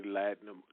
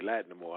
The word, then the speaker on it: Lattimore: work with Lloyd mystical Kenny latinum Kenny Lattimore I should say his name correctly can't lie no more I know better but